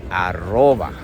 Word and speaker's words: arroba: We say aroba.